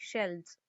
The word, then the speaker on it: shelves: एक होगा तो शेल्फ कहते हैं, और ज्यादा होंगे तो हम क्या कहते हैं, शेल्व्स। देखो इसका स्पेलिंग यहाँ पे है SHELVES।